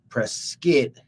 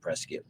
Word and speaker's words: Prescott: that everything is so in order for us to know that we are from press skit we will now pronounce it Prescott all right and I